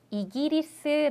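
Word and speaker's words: イギリス: 아는 분들이 꽤 많으시던데 영국은 애 꼬꾸라 생각하시기 쉬운데 꼬꾸 아니라 이기리스 아고 하고요 이렇게 한국어랑 일본어가 좀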